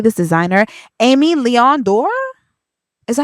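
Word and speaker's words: Aimé Leon Dore: Amy Leon Dore?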